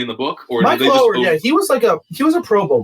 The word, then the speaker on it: Oher: Michael Oher, or however you pronounce Michael it.